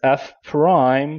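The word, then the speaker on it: f′: Whereas f prime, so that's what how we pronounce that apostrophe, f apostrophe three, is no longer the y coordinate.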